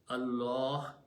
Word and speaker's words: Allah: in this case both then the word of Allah should be pronounced with a big full mouth Allah like that. If these two letter if these two harakas are before the word Allah then don't pronounce Allah or Allah full mouth Allah but if the third one is there z then it should be very smooth Allah which is under thereism